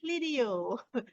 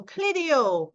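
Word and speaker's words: Clideo: Let's pronounce it carefully, Clidio.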